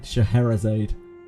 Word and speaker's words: Scheherazade: Scheherazade.